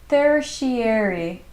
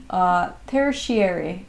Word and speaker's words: tertiary: In the meantime, it's pronounced tertiary. Thank you so much for telling me. Tertiary. Thank you so much. Tertiary.